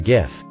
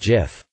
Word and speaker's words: GIF: He invented the GIF. Then he won a Webby Award for it. Webby Award speeches are only allowed to be 5 words long. He went up and said it's pronounced GIF. not GIF.